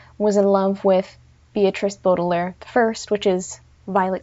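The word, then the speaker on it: Baudelaire: and by the way my pronunciation is probably going to vary between bodair and Bott a I know it's bodair but you know my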